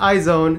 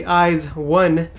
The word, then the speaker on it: IZ*ONE: Not iZone, it's actually IZ1. You know, just in case you got confused, just like I did. Because I mean, who pronounces IZ as eyes?